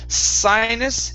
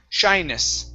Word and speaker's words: shyness: sound right here so instead of sinus it's now this is when you want the tongue to point upwards shyness shyness there you go kindness